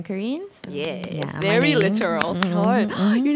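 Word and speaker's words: 별: Pyeol. Your name is Pyeol. Yeah, Pyeol. Pyeol, yeah. It's just one syllable? Pyeol. Yeah, one syllable.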